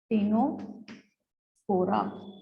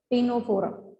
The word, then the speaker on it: Ctenophora: Now again, C is silent in these members. जैसे वहां Cnidaria में C silent था. This is third. It is Ctenophora. C silent. Ctenophora.